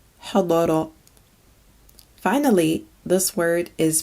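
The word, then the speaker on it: حضر: This one means to attend and is pronounced hadara, hadara.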